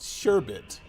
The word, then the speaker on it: sherbet: crap sherbert shirt versus sherbet sherbert pronounced sure bit okay interesting so how does it pronounce that or a book correct it's okay so it's pronounced sherbet s-u-h-r-b-i-t you can't see